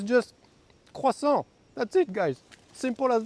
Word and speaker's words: croissant: Oh, and for the American viewers, it's not pronounced croissant, like if it's something dangerous and scary. It's just croissant.